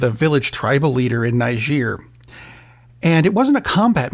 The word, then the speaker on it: Niger: Donnie's Benghazi is called Niger, which worries me because I know a lot of people are pronouncing it with a completely different G sound. Don't do that.